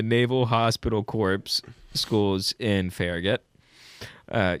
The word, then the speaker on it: Farragut: Hospital Corpse schools in Farragut. Uh, you can't you can't roll that gu. You got to say fair. Yeah, you got to say Gut. That's a hard G.